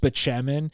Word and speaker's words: Spaceman: talking about his doctor, whose name is pronounced Spachemin, but he calls him Dr. Spaceman because of how it's spelled.